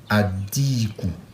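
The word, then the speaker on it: الدِّيك: Maintenant, si on ajoute alif lam, on va supprimer ça et ça va devenir adiku. Adiku. Donc, vous voyez, c'est A, on prononce, et puis on a ajouté shida ici, adiku.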